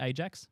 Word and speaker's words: Ajax: I've also got uh the Ajax scarf, spelled Ajax, pronounced Ajax, a Dutch football team.